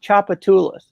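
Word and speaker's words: Tchoupitoulas: that, but it's pronounced Chapatoulas, like CHOP, but it's TCH.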